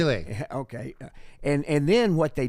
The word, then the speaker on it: Milei: How do you pronounce his Javier last name? Milei.